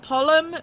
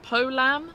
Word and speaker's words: Polam: Not Pollum, it's Polam.